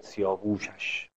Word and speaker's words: سیاوش: ببین این سیاوشه، به خاطر وزنشه باید سیاووشش، سیاوش او تلفظ میشه.